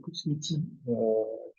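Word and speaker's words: Kusmi Tea: Euh, la marque Kutsmiti, ça se prononce comme ça, mais enfin, un fabricant de thé qui a relocalisé une partie de sa gamme en France.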